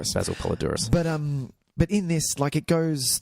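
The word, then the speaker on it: Poledouris: One of my all-time favorites, Basil Puzzle-Adoris, or however you say his name, who I'm going to figure out how to say his name properly, who composed, obviously, the wonderful, wonderful score to Conan the Barbarian. Yes. But yeah, in this Polydorus. Basil Polydorus.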